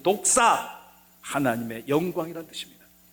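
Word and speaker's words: δόξα: 여러분, 독사. 시작. 독사. 저 사람 참 독사 같네. 그런 독사가 아닙니다. 사람에게 무는 독이든 뱀을 독사라 하지만 여러분, 헬라어 말로 저렇게 쓴 독사, 하나님의 영광이라는 뜻입니다.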